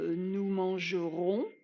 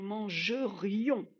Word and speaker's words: mangerions: n'est pas je mangeais ce n'est pas nous mangerons ni nous mangions c'est nous mangerions on a le r le i le haut si vous prononcez pas de façon assez articulé vous allez soit dire nous mangerons et nous mangerons c'est un futur ou alors nous mangions nous mangeons c'est un imparfait ça ne correspond pas